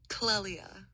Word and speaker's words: Clelia: You say it like Clelia.